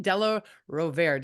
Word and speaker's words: Della Rovere: We actually have Kristin Della Rovere.